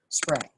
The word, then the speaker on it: sprang: In the late 1800s, textile specialists began using a Scandinavian word that seemed to cover it, and the English pronunciation of that word is Sprang.